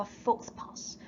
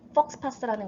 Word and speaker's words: faux pas: 즉, it is an apology for 이거를 faux pas라고도 발음하는데 faux pas라고도 하거든요. I committed a faux pas. 나 실수를 했어. 이런 표현이에요. faux pas라고도 하고 faux pas라고도 발음하는데 faux pas라는 거는 실수라는 뜻입니다.